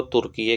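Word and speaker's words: Türkiye: अब तुर्की को तुर्कीये के नाम से जाना जाएगा। तुर्कीये में देखो, पहले जो है तुर्की की स्पेलिंग क्या होती थी?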